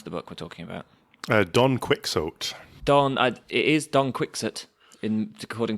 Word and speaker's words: Don Quixote: Because I read that the X in Castilian was a sh sound.